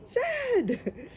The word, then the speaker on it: Z: It is it is pronounced Z or zed, not Zed because Americans say Z, we say zed.